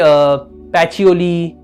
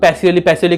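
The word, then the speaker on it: Pacioli: एंड कुछ भी होगा, प्रोनाउंसिएशन हो, जैसे आपको बोला था कि पैचियोली, बहुत लोग पैसियोली करते, नहीं पैचियोली।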